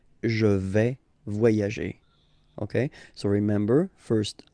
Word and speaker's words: je vais: Okay, first person here, je vais. Remember, final S not pronounced.